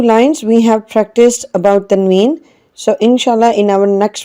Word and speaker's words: tanween: In short, we can say like tanween, when a sign comes doubled or when a sign comes 2 times, we say tanween, and tanween sounds n at the end.